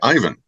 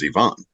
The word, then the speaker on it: Ivan: the years there's also the name Ivan which Americans say Ivan and yet anybody uh from that part of the world says Ivon and um and yet